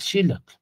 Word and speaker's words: xilotl: Xilonen, el jilote, el xilotl, más bien, que el acento va en la I, ¿verdad? Xilotl, aquí es centli, miyahuatl, son todas graves, palabras graves, el acento en la penúltima sílaba.